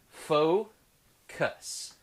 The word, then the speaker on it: FoKoos: company called focus yes this is pronounced faux cuss focus that's the focus odin